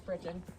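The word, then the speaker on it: breeching: The breechin, I learned how to say it from a cowboy, so it's breechin.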